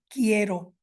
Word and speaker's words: quiero: So you can see here examples of that inconsistency. So we have a U for quiero and quince that is included coming from Latin, but is not pronounced at all. Moving on to this Z